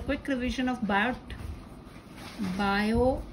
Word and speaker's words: Biot: पर उससे पहले just a quick revision of बायो T is silent, S Savart's law.